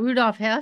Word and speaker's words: Rudolf Hess: So is this the one about Rudolf Hess?